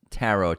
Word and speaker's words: tarot: and stuff is tarot is this silent tea silent tarot tarot yeah it sounds better